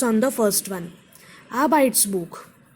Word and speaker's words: Arbeitsbuch: Arbeitsbuch, Arbeitsbuch. Three syllables, stress on R, Arbeitsbuch.